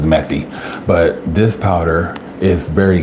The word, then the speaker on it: methi: I also add fenugreek seed powder, or methi powder, or however it's pronounced in Indian, but I believe it's methi.